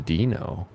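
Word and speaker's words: Deino: name Dino? The second letter, D-E-I-N-O. D-E-I-N-O. That's the stupidest way to Obviously. spell that I've ever heard in my life.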